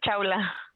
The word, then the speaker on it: Shaula: Así pronuncio bien, Shaula, ¿es correcto? Sí, maestra, así es, Chaula.